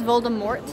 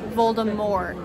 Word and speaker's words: Voldemort: pack so everyone says Voldemort but it's actually supposed to be pronounced the French way Voldemort without the silencer yeah